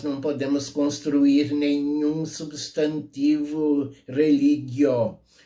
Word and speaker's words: religio: A palavra religio, na pronúncia restaurada, religio, religionis, ou religio, religionis.